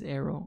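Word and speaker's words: Aero: we'll see arrow arrow oh it actually is arrow okay we uh we learn stuff every day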